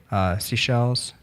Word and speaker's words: Seychelles: Seychelles. Or I know how it's spelled. I just don't know how to pronounce it. It's Seychelles.